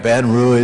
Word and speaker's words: Baton Rouge: Baton rou right now and I said it right right baton Ru they told me to say it that way I have to be